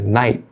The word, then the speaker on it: night: E o T final também de night, ele também não é pronunciado. Fica night.